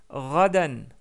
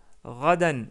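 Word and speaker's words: غدا: Pour dire demain, on dit radan, radan ou rada. Si vous voulez prononcer plus correctement quand on s'arrête sur le mot, c'est rada. Et hier, on a deux mots pour dire ça.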